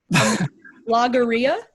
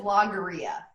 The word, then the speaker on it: logorrhea: you don't know okay Becca how do I pronounce this next word love that logorrhea logorrhea oh that's an L okay great cam